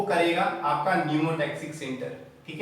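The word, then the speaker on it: pneumotaxic: तो ये याद करने का चीज ऐसा है कि पी से न्यूमोटैक्सिक, ठीक है, वैसे तो ये साइलेंट होता है, ठीक है, न्यूमोटैक्सिक में पी आता है और ये पाया जाता है आपका पॉन्स रीजन में।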